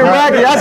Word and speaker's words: Brackey: Brady Brackey.